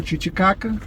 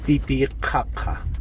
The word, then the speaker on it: Titicaca: y el aymara, y la correcta pronunciación es Titicaca. No es Titicaca.